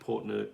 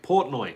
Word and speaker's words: Portnoy: gedro i'm late but mike portner would be mike portnoy say it properly would be a great